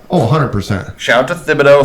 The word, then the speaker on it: Thibodeaux: 100 shout out to Thibodeaux fabito whatever the organ d-line I think that the th is just pronounced the H is silent Jimmy shout out to